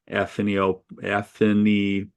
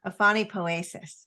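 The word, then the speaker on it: aphanipoiesis: And this is the ideal of submergence and emergence, and maybe your new word, which I don't know how to pronounce, aphanipoetic. Yeah. Aphanipoesis.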